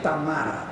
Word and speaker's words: Tamara: Hay que decir Tamara. Tamara. Porque es ruso. Es Rusia. Así se pronuncia.